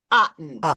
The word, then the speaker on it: Otten: It's Susan Otten.